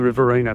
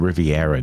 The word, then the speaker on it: Riverina: to the Victorian border I think I Mis mispronounced it I said Riviera didn't I yeah you did well M thank you